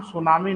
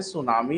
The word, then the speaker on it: सुनामी: actual में इसका नाम सुनामी नहीं है बेटा सुन लो इसका नाम सुनामी है और इसकी शुरुआत टी से होती है साइलेंट होता है है ना ब लेकिन